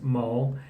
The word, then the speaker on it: maul: it's ill-advised number two mall so the spelling is ma ul which looks like mouth I guess but it's pronounced mole and to be mauled